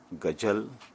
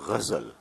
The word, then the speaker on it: ghazal: arizal first of all we must learn to pronounce the word correctly it is not gazelle it is not sul it is a vessel the vessel a result